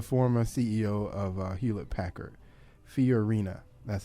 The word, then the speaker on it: Fiorina: Fiorina.